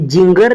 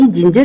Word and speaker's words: ginger: आगे क्या है, GINGER, अब यहां पर क्या है भाई, जिंजर, क्या है, जिंजर, ये जिंगर नहीं है, सारी जिंजर इसको बोलते हैं, जिंजर होता है अदरक।